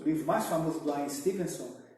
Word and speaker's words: Ian Stevenson: I-A-N, acho que é Ian Stevenson, escreve-se Stevenson, a pronuncia Stevenson, né?